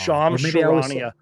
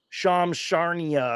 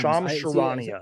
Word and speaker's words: Shams Charania: I always say it wrong. Shams Charania. I used to call him Shams Charnia or something. Not but yeah, Shams. Shams Charania.